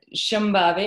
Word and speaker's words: Shambhavi: And Shambhavi, I have to practice saying that name properly. Shambhavi. Shambhavi. Emphasis. Shambhavi? Shambhavi. It's like Shambhavi. just the heaviest syllable is the first one.